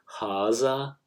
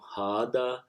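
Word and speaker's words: هذا: Similarly, Haza will become Hada. Hazi will become Hadi in the Hijazi Arabic.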